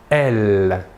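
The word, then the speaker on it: elles: Et le pronom personnel sujet féminin de la troisième personne du pluriel est « elle ». Même chose que pour le masculin, la S finale ne se prononce pas.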